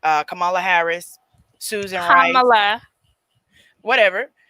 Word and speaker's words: Kamala: It's like comma, but Kamala.